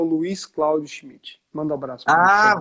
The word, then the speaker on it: Schmidt: Schmidt, não sei como é que é a pronúncia desse nome Schmidt. gringo. Hã? É Schmidt.